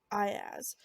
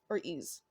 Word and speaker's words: Aiaz: name i wasn't i there was two pronunciations and one said i as and the other one said or ease so the first one was i ass so that's the one